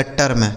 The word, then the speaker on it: term: TERM, तो टी से हो गया दोस्तों ट, इस ई का उच्चारण ए हो जाएगा, आर से र और यम से मैं, लिखा गया टर्म, ठीक है, TERM टर्म।